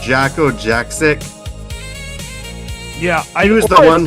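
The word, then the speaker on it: Jakko Jakszyk: I don't know if I pronounced his name correctly, but I think it's pronounced Jacko Jaksic.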